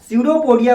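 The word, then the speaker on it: pseudopodia: तो अमीबा क्या करता है, अपने सीडोपोडिया को, इसमें पी साइलेंट होता है, सीडोपोडिया को क्या करेगा, दो वो फिंगर लाइक प्रोजेक्शन का फॉर्मेशन कर देगा।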